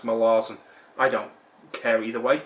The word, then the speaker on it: Malazan: say malazan but um apparently it's supposed to be pronounced my laws and i don't care either